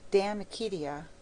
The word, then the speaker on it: De Amicitia: We've finished Livy and De Senectute, and now engaged with De Amicitia, pronounced Damicitia.